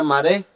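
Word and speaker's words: מַרְאֶה: Entonces, la palabra sola vista se agarra en junto y está en el hebreo y significa, y se pronuncia maré, y eso significa apariencia, aspecto, modelo, parecer, semejanza.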